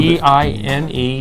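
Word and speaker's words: Diné: marriage, Oh, D-I-N-E, Dine is the Navajo like word dying.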